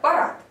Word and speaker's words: парад: Итак, парад. Если мы будем говорить про транскрипцию, а именно про произношение данного слова по звукам, то на конце будет буква Т.